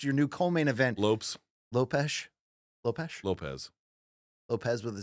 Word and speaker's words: Lopes: 2 in the main event, Brian Ortega, Diego Lopes, your new co-main event. Lopes Lopez with a Z? with an S, but it's pronounce it with a Z.